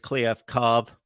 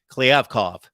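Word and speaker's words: Kliavkoff: but of course we saw Pac-12 commissioner George Cliff COV I'm going to get that pronunciation down at some point I gotta hear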